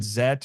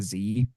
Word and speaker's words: Z: with It's Ultram Man Zet or just looks like a Z, but it's supposed to be pronounced Zet.